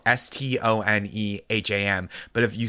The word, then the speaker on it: Stoneham: So it's like I grew up in Stoneham, Massachusetts, which is spelled Stoneham.